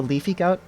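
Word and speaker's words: Leafy Gote: It's the Leafy Goat, and that's spelled G-O-T-E, made by Asmidi.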